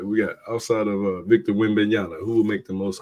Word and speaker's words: Wembanyama: How you pronounce it again? Say it one more time for me. Wembanyama.